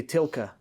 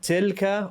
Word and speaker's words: تلك: تلك. And make sure you make it an Arabic lam, not an English lam. You want to say تلك.